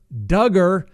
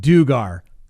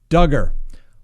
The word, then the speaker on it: Duggar: the pronunciation for joshua duggar rhymes with hugger before i pronounced it dugar who knew anyway you